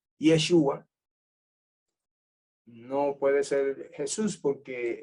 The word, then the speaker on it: Yeshua: este y a Joshua o como se dicen arameo que algunos prefieren el arameo yeshua no puede ser Jesús